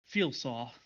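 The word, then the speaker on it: Felosial: what was your name again my name is feelsau how do i spell that uh f e l o s i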